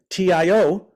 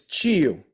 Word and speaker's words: tio: up saying for example the word for uncle in Portuguese is t-i-o same as in Spanish Tio most people say tio in Portuguese from Rio is Chio Chio okay so so I